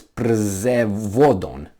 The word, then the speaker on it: Przewodów: So it's Przewodon.